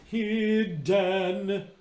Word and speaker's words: hidden: We don't sing, let's say the phrase was, let's see, if I was going to sing hidden, I don't sing hidden. It's not an e vowel because that ends up accenting it.